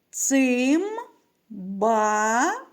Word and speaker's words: цимбали: знизу пишемо літеру И скільки складів у слові цимбали порахуємо промовимо разом цим бали правильно три скільки голосних звуків стільки і складів три А на який склад падає наголос покличемо цимбали наголос падає на другий склад діти пропоную два слова